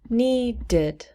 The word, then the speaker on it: needed: When we change it to past tense, it becomes needed, needed, needed. Two syllables. And the ed is pronounced id.